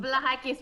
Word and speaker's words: Vlahakis: We appreciate you taking the time today, Kelly Vlahakis. Vlahakis? Vlahakis? Did I say it right? Vlahakis, which means Vlahakis.